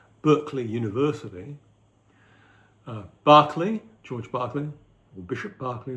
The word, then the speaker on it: Berkeley: and those three empiricists are lock John Lock Barkley the one who gave his name to the U mispronounced B Berkeley University uh Barkley George Barkley or Bishop Barkley as something called